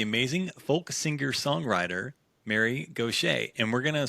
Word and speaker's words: Gauthier: Hey Alphas, today we are joined by the amazing folk singer songwriter Mary Gocha. And we're going to spell that out for you in case you want